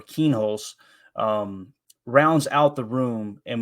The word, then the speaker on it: Kienholz: Lincoln Kienholz, I think that's how you say it, or Kienholz, rounds out the room and was one of the 15 best quarterback recruits in the 2023 class.